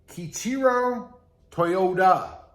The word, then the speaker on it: Kiichiro Toyoda: The name Toyota was derived from the company founder, and his name was, if I pronounce this right, Kiichiro Toyoda, with a D, not a T.